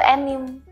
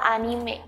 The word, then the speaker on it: anime: kita adaanime nah tapi banyak dari kalian yang menyebutnya itu Enim padahal kata ini sebenarnya cara mengucapkannya adalah anime sebenarnya ini merupakan kata